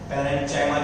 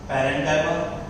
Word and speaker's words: parenchyma: Pronunciation सीख लेना. parenchyma, chyma मत करना. collenchyma, sclerenchyma. parenchyma, collenchyma, sclerenchyma.